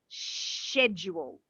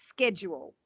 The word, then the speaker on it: schedule: Both pronunciations are okay. British will say schedule. Schedule. Yeah, schedule. Americans say schedule. But you will find even some British people will say schedule. Yeah. But, so it's a real mix, that one. Some people say schedule, some say schedule.